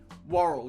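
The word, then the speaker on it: Worrall: Worrell, yeah, it is Worrell.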